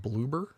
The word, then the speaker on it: Bloober: Is that how you pronounce it? Bloober?